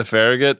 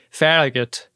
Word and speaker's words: Farragut: them to protect the Farragate. Amazing. You see in the exterior just how messed up the Farragut is. I I should say Farragut.